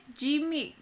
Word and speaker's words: Gigamic: It's Gigamic.